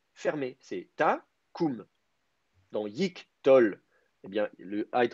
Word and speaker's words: yiqtol: Euh en hébreu, quand vous avez un A en syllabe initiale fermée atone, trois conditions, ce A va passer au I la plupart du temps. Donc, c'est pour ça qu'on dit yiktol et pas yaktool.